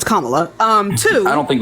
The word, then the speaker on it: Kamala: it's racist for you to not be pronouncing her name right it's Kamala um two I don't